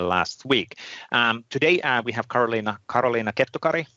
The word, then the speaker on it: Karoliina Kettukari: That's a Finnish way of pronouncing that. You can do Karoliina Kettukari even in English. How would you pronounce it, Karoliina's name? Kettukari? Kettukari, yes. You need to be strict on those vocals.